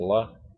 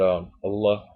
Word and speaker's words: Allah: almost making partners with Allah. But Allah, it's funny. People say Allah. It's Allah. You know, I still can't pronounce it right.